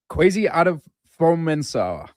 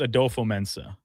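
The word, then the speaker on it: Kwesi Adofo-Mensah: And in your defense, it is not an easy name to pronounce. Well, are you ready to hear it? Yeah. Kwesi Adolfo-Mensah. But I think it's Adolfo-Mensah. Adolfo-Mensah.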